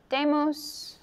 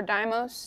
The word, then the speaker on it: Deimos: called Olympus Mons and it has two moons damos or Deimos depending on how you pronounce it and Phobos so and I don't